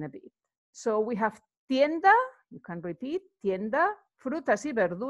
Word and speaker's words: tienda: Remember that in Spanish you actually pronounce every letter, and the vowels are always the same. They always sound the same. So you don't need to worry about this a or a. No, tienda, the a is always the same.